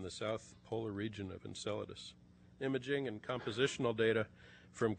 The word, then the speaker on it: Enceladus: one of those places I recently heard a TV newscaster pronounce it enchiladas our speaker tonight will show you huge ice icy geysers continuously erupting from the south polar region of Enceladus Imaging and compositional data